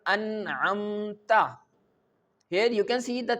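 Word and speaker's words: أنعمت: If fatha is present on the ta, we can pronounce this letter like an'amta. Okay, an'amta. Remember that an'amta means you gave favor. Here the letter, the word you mentioned Allah Almighty. But if we recite an'amtu, the ta leads with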